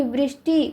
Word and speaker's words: वृष्टि: होगा वृष्टि ठीक है क्योंकि वृष्टि उच्चारण करने में ही आपको लग रहा है कि ऋ का प्रयोग हुआ है ठीक है तो ऐसे